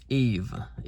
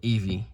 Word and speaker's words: Eve: The last E is silent, alright guys? Eve, not Evie, Eve.